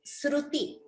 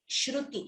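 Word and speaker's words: स्रुति: So please do not chant it as Shruti. Shruti is Veda, that is completely different. This is Sruti Jhari.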